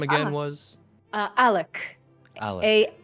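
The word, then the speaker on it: Aluc: Alec. A-L-U-C is how it's spelled.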